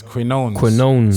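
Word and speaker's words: Quiñones: Quinones.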